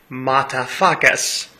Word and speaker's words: Mutafukaz: So naturally I was quite excited to see the new film that they had a hand in, Mutafukaz. Again, it is pronounced as it is written.